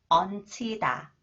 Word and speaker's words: 얹히다: And this one is when 히읗 comes after the final consonant 니은 지읒. 니은 지읒 combines with 히읗. It is pronounced as 치 sound. 얹히다, 얹히다.